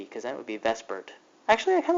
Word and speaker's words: VSEPR: like Vesper is like the zipper but we pronounce it Vesper and here's what it stands for it stands